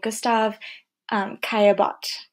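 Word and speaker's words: Gustave Caillebotte: This is a painting by Gustav Caillebotte, That is how you pronounce his name.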